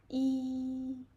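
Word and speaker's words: 一: So, for the first tone, okay, maybe yeah, you don't know how to say the first tone. Don't worry. Just uh raise your pitch to the highest highest level. It's here. Okay. E. E. It's high and long and flat.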